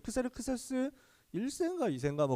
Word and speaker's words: 크세르크세스: 나와있습니다 이름 좀 힘들죠 크세르크세스 잉 금 크세르크세스 s1 쌩과일 생각 그 정도 되요 그래서 이름은 뭐 그 그리스식 발음입니다 크세르크세스 라는 발음은 그래서요 이름의